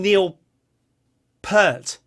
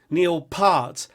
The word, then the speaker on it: Peart: want to call him Neil Peart, and then you look at the spelling and you think, well, actually it's kind of like heart but with a P, Neil Peart, and then you'll hear someone